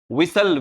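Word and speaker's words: whistle: इन सभी जगहों पर आपने टी को पढ़ा ही नहीं है, टी को साइलेंट ही कर दिया है, सब जगह पे टी साइलेंट हो गया।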